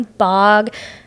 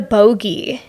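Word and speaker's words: Bogge: Oh, I thought it was the Bog. I don't know. But usually I'm the one that pronounces things wrong, so. And I heard it as the Bog, and I was like, oh, okay. You thought it was bogey like golf?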